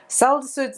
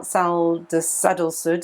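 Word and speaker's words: Sadalsuud: So it's a funny little star, Sadal Sud, sorry. I always get the pronunciation muddled up with that one. It's like sandals. Anyway, so that's Sadal Sud.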